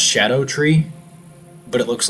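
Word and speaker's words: Scadutree: It It's pronounced shadow tree, but it looks like Scadoo tree because it uses old English spelling.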